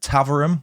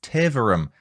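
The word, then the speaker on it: Taverham: I said River Bur when the correct pronunciation is Bure or Bure, depending on your accent. I also said Taverum when I should have said Taverum.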